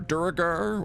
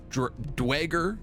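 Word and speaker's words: Duergar: We're going to be playing as a giant necromantic dragon who leads a group of dark dwarves or Duragar or Dwager, depending on your pronunciation, as we kind of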